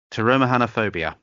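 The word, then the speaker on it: pteromerhanophobia: Now, this one does begin with a P, but the P I'm guessing is silent. So, it's termahanophobia.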